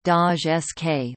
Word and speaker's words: Gdańsk: In Polish the modern name of the city is pronounced Daj Sk, listen.